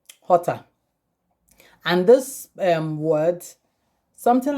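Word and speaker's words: jota: english language is j in spanish it's been called ota hota and this um word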